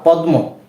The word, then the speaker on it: পদ্ম: ম ফলা পদ্ম পদ্ম এখানে কিন্তু ম এর উচ্চারণটা হয়নি তাই না প দ ম ফলা কি হয় পদ্ম পদ্ম এখানে আপনারা উচ্চারণ করার সময় একটি বিষয় খেয়াল করেছেন যে এই দটা আমি দুইবার উচ্চারণ করেছি একবার পদ এরপরে দ পদ পদ দটা দুইবার আসে না আসে এইখানে আমরা একটি